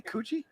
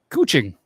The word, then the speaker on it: Kuching: Did you say coochie? Kuching. Oh, close.